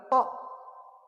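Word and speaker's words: ط: Nah, terus lagi perlu lagi tok. Tok ini. Tok. Di sini apa ini? Toh, toh, toh, toh. Bukan toh nih bacanya. Tok.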